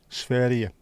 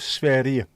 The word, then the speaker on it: Sverige: How was Sverige? Isn't that how I pronounce it? Sverige, I think.